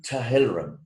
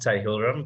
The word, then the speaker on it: Tahilram: And with us today is Tahiram. Or is that how you pronounce your surname? It's actually pronounced Tahilram, but yeah, Brett's pretty close.